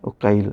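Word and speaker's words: Uqail: sana di sini disebutkan cara membacanya ee dengan tasgir ya uail ya kemudian ada Ibnu syihab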